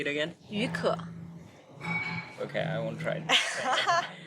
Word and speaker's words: 雨可: How do you pronounce that? 于可. Say it again. 于可.